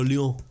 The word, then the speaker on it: Lyon: And make sure that you don't hit the consonants at the end of words. So Lyon.